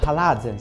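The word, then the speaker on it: Alhazen: matematico e l'astronomo arabo haazen si pronuncia così nel 1038 a descrivere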